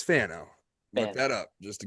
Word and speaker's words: Fano: Um actually pronouncing that right. Not Feno, it's Fano.